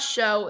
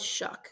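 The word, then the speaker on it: Shough: Yes, his name is it's not Show, it's Shuck. In case you guys don't know how to pronounce his name.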